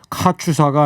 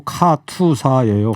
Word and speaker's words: 카투사: 일구 아저씨 카추사가 아니고 카투사예요. 아. 그죠? KATUSA니까.